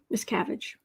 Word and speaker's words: Miscavige: Kind of like Miss Cabbage. Like you get a cabbage, you put eyes and, cute little M&M girl boots on it. Miscavige. Rhymes with cabbage.